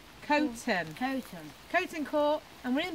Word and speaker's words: Coughton: how to pronounce that I've always called it coffin or Calton but it's actually cone turn coating coating caught and